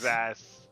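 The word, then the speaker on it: Xas: How do you spell that? With an X. X-A-S-S? No, just one S. Sass. X-A-S.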